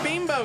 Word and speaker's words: Bimbo: never heard there oh it's pronounced bean bubble by the way says it on the email oh my spelt B I am B oh okay and bimbo was his name okay I just want I am 40 and I just learned that pronounce bean bow guys guys we have